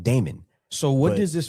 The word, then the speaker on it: daemon: Named Demon, basically. Yeah, it's named Demon. I've always thought it was really strange, but a file will have demon, or So- it's pronounced Damon.